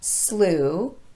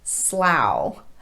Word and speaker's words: slough: tough by the way slough is the verb form of this word it's pronounced differently when it's used as a noun sometimes o-u-g-h gets the u pronunciation this happens in the words slu the noun form of this word and through just a side note in some dictionaries the noun form of this word is transcribed with an ow sound slau but in my experience the u pronunciation is more commonly used slu in the words